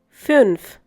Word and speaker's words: fünf: Fünf.